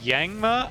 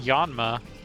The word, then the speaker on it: Yanma: Is it Yangma? I I always pronounced it Yanma. Um I guess I don't know for certain.